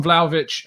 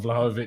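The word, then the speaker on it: Vlahović: little sense to me um but yeah on vladovich uh i think he's a player that first of all i've learned to pronounce correctly it's not vlog of it just not vlogging what's the correct pronunciation i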